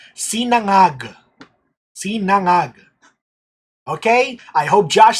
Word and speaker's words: sinangag: It is pronounced sinangag. That's how it's pronounced. Sinangag.